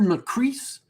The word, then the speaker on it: Macris: have just completely not it rhymes with peace not with piss there have it um